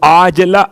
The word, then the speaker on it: عاجلہ: ایسی نیند کہ عاجلہ، وہ جو آپ کہتے ہیں معجل اور معجل عین کے ساتھ، یہ عاجلہ عین سے ہے.